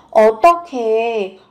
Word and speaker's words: 어떻게: Âm h và âm k kết hợp với nhau được đọc nối lên thành âm khờ 어떻게, như thế nào?